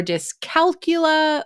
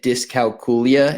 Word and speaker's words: dyscalculia: today disc calula or disc calcula or something else so I have for a long time always said disc calula and I do believe that is the proper way to pronounce it um I don't think